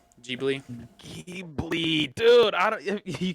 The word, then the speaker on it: Ghibli: What kind of It's a movie is Ghibli it? movie. It's a Ghibli movie. Have you seen any What's Studio Ghibli? Ghibli movies? No. Any movies by Studio Ghibli? Ghibli?